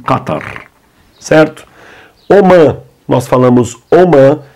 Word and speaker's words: Qatar: Pena arábica muda pouco Bah apenas aqui pronunciamos diferente o h que aqui no ocidente o h para nós em inglês por exemplo é bem aado Help em á tem h não muda nada falamos simplesmente Qatar certo Omã nós falamos